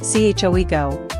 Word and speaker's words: 최고: The vowel in, choego, is a diphthong that sounds like we in English, as in wet. Many learners simplify it to O or E.